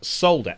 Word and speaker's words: solder: the american version and it was solder s-o-l-d-e-r and then in brackets the pronunciation so duh they picked out the silent l there's no silence tomato